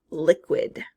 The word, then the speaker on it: liquid: Next we have liquid. Liquid. Liquid, second syllable, and quid. I believe I hear that QU in the middle of that word.